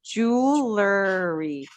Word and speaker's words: jewelry: One of the if you really need to say this word, just remember it's 3 sounds.